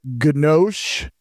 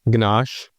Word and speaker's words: ganache: Ganosh. Ganache.